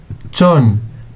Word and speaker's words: مقلمة: ميم plus قاف plus لام plus ميم plus تاء equals مقلمة.